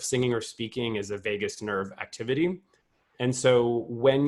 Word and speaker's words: vagus: so I mentioned the vagus nerve earlier if you're on this call and you don't really know that it's spelled v-a-g-u-s not like Las Vegas but uh vagus in in Latin which